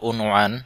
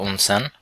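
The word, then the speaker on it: عنوان: জানি হাম্মাম টয়লেট এরপর শুদ্ধ উচ্চারণে যেটা ছিল উনয়ান উনয়ান মানে হচ্ছে ঠিকানা বা এড্রেস আর কৈতি উচ্চারণে সাধারণত এভাবে থাকে উনসান উনসান মানে হচ্ছে ঠিকানা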